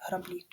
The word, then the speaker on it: граблі: гальма така ж історія Зверніть увагу на склади куди падає наголос перший склад гальма і останній другий склад граблі проводимо тестове опитування форму